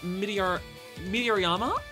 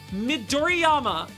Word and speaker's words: Midoriyama: Also, retraining for Mount Meteoriyama? All your body will be in pain? What's Mount Meteoriyama? Midoriyama.